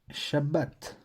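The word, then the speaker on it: שבת: a pas de voyelles on prononce juste comment elle doit se prononcer sans rien ajouter et en fin de syllabes elle ferme la scie là et donc ce mot là ce lit Shabbat donc ici on voit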